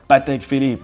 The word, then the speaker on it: Patek Philippe: Okay, now for a serious one, Patek Philippe, and you see, well, this one is easy too.